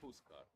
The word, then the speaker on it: Huskar: Do you have your own way of pronouncing Husker in your native language? Is it just Husker, or is it like? It's Huskar.